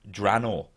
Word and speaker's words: Draenor: Metzen that it's actually Draenor. So the E is silent, Draenor.